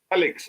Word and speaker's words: Felix: Felix. Okay, like Nigerians would. Felix, not Felix.